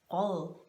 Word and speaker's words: rød: word red in Danish, which is spelled like this, but it's pronounced rød. Okay, we do a little weird thing with our R, the U, and then the D is not a D in my opinion, it's something else.